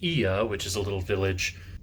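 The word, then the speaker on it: Oia: to a winery and then we went to IA it's called not Oya we thought it was Oya but it's apparently pronounced IA which is a little village just north of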